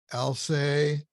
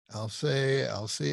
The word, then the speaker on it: Alcée: last name, Alcée, Alcée. I've heard people pronounce it both ways. Yep. And just for our listeners and viewers, in case you want to look up, it's spelled Alcee, but the first E has, what is that called? The diatonic. Accent aigu. What is it? Accent aigu. Okay. Yeah, that's the French accent.